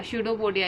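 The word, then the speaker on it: pseudopodia: P silent होता है बेटा, स्यूडोपोडिया इसे बोला जाता है।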